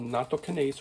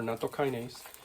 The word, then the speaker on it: nattokinase: But the big thing is they've found a special enzyme in this, and it's called nattokinase or nattokinase, depending on how you want to pronounce it.